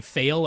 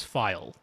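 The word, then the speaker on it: faille: I saw it all over the web like people saying fail and I'm like no it is it's file if you even look it up uh f a i l l e oh it's file okay I take your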